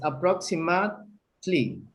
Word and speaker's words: approximately: Yes, approximately. Approximately. You don't pronounce the E.